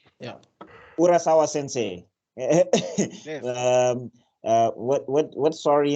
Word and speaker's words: Urasawa: or how do you say his name sorry urasawa yeah urasawa Sensei what what what's sorry in Japanese I'm